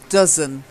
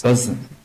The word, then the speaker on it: dozen: word for me noisy dozen dozen not doze dozen dozen oh it's an earth sound yeah I wasn't sure